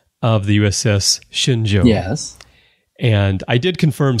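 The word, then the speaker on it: Shenzhou: is not J but J but it is shinjo as I was uh saying it probably was now how they pronounce it on the show I don't know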